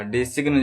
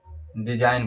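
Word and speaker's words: design: डिसिग्न नहीं पढ़ा जाएगा। डिसिग्न जो है वो गलत हो जाएगा। डिजाइन पढ़ा जाएगा।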